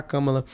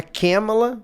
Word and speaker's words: Kamala: tem que fazer agora pra não atrapalhar a Kamala.